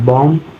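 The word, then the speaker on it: bomb: एम के बाद बी आता है तो बी साइलेंट होगा जैसे ध्यान देना लिखा है सीओ एम बी कॉम बी ओ एम बी बम टी एच यू एम बी थम डी एच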